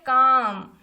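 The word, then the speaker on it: calm: उसके बाद यहाँ पे लिखा है काम, यहाँ पे काम लिखा गया, एल का इस्तेमाल नहीं, हम इसको कालम नहीं पढ़ रहे हैं, इसको हम पढ़ रहे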